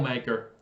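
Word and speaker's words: Makar: cole uh mocker maker i keep saying his name wrong kale i'm sorry it's kale maker uh marker okay those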